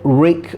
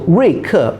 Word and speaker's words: Ruike: Now the Anglo-Saxon version, it's probably more like Ruike or Reike, because the Chinese pronunciation is Ruike, which means strength and toughness or sharpness, which makes sense for the knife brand. So Ruike would be the correct